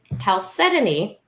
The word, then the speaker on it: chalcedony: 2, everything she just said, but also blue chalcedony. I'm still learning how to pronounce that word.